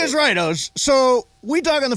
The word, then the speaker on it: Oz: So it looks like Oz the Mentalist, but it's Oz the Mentalist. Instagram, Twitter.